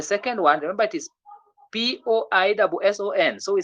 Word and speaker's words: poisson: When letter S appears between two vowels, a single S appears between two vowels, the sound becomes what? Z. You get that? So we say poison. The third one is poison, but the one which comes before is poisson.